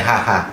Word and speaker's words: Haga: Bacanya tulisannya sebenarnya Haga ya, tapi bacanya Haha.